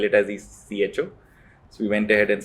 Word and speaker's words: Eko: You pronounced EKO or Echo? Echo. It is really, we wanted Echo to Echo, ECHO.